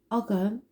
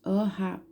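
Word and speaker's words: Ogham: It is a symbol called Ogam, pronounced O-ham, O-am, or O-gam, which is early form of Irish writing.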